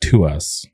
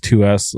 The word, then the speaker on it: TWS: This new boy group, I think it's pronounced To Us, right? TWS To Us.